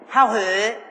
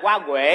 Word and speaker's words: Hoa Huệ: Hao Huệ. Không phải. Đọc đúng là Hoa Huệ.